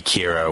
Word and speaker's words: Kira: light says um they're they're calling me Kira which they're taking from the English word killer and by the way